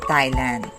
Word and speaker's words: Thailand: the letter h in thomas is not pronounced the same is true with teresa turis and thailand here are the